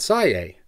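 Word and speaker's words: Siyeh: Can you spell that for me? I've never heard of it before. Sure. It's Mount Sai.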